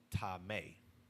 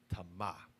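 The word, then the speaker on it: טמא: up it's h 2930 modern Hebrew is pronounced tame paleo Hebrew is Tama the usage the biblical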